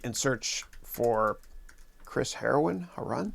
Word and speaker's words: Haroun: search for chris heroin how run that's how you pronounce that uh and then just